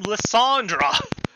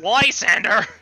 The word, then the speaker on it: Lysander: his name correctly because i kept calling him lisandra people could complain about that but now i know that's lysander and i was an idiot uh anyways you